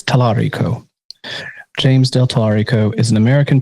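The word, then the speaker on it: Talarico: I mispronounced the man's name earlier. It's James Tarico. Okay. Not Tiller. It's Tarico.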